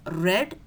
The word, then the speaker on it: read: So the V3 of read is read. The spelling is same but the pronunciation is read.